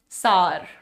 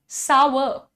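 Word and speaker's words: sour: हम क्या कहते हैं लोग कहते हैं सार सॉर बट the correct pronunciation is सावर सावर इट इज नॉट सार इट इज सार हर एंड सार हट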